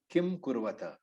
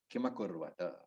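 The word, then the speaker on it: किमकुर्वत: And Hindi speakers must remember that the Akara, the is always present in Sanskrit. So it is not Kim Kurvata. In Hindi, if you are reading that word, it will be Kim Kurvata, but the Ma is carried forward. Kimakurvata.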